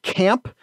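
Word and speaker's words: CAAMP: They're a band called Camp that is spelled with two A's and apparently all caps. Not that the caps necessarily matter, but C-A-A-M-P.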